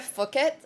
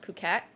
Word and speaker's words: Phuket: So Grace, I was pronouncing it Phuket, like literally Phuket for the longest time, and I kept getting corrected, and it's pronounced Phuket.